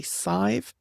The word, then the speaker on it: Sadhbh: So if you had an S on there, that would be Sive. So that's why I pronounce Badb as Badb, not anything else.